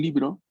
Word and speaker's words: libro: Por ejemplo, si yo tengo un libro, ¿cómo se dice libro en italiano? Libri. Libri. Libro. Esos libros, en plural, libro. Libro. Libro. Libro, con la B fuerte, ¿no? B, libro.